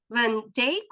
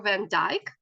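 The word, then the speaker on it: van Dyck: Jordan's friends Snyder's and Anthony van Jake or Van Dyke there are two ways um of pronouncing his last name and um some in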